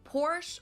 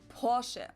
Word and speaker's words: Porsche: I've heard Americans pronounce it Porsche or Porsche. In German, we say Porsche. So there's like this Oh. E sound in the end.